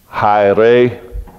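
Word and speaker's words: αἱρέσεως: So first of all, that word for party, the word there is, here's how it would be pronounced as I learned to study Greek. I'm rusty, but I can do this. Hyreseos.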